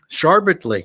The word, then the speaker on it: Sharbot Lake: Sharbot Lake. That's how you pronounce that.